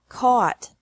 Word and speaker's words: caught: buy bought bought catch caught caught fight fought fought seek sought sought teach taught taught think thought thought remember that the g is silent in these verbs verbs with three different